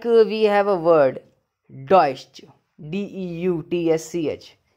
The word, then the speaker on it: deutsch: Like we have a word, deutsch, D-E-U-T-S-C-H. E-U is I and T-S-C-H is ish. So, it is deutsch.